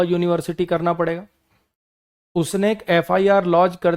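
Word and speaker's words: FIR: करना पड़ेगा उसने एक एफआईआर लॉज कर दी रजत के खिलाफ क्योंकि वो उसके पैसे वापस नहीं कर रहा था एफआईआर एफआईआर अ बोले बिना इसको बोल नहीं पाओगे आप फिर थोड़ी है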